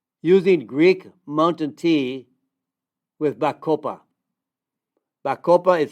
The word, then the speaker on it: Bacopa: effects on memory using Greek mountain tea with Bacopa. Bacopa is spelled B like in boy. A-C-O-P-A. Bacopa.